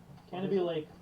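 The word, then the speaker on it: Canobie Lake: that canopy lake park canopy lake park how you pronounce it yeah like canopy lake definitely this is what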